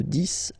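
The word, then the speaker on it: dix: to 20, okay, de 10 à 20, okay, so let's start now. 10, okay, so remember, final X here is pronounced like S, 10, 10, okay, then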